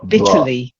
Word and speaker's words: bitterly: And then another one with the T, not bitter. Bitterly. Bitterly. Bitterly.